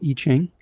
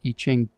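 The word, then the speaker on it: Yijing: It's called I-Ching. And I don't know, I've been using it for over a decade. It's spelled Y-I-J-I-N-G.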